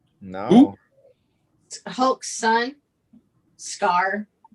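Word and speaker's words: Skaar: no hulk son scar it's pronounced as k-a-a-r it's got r i was gonna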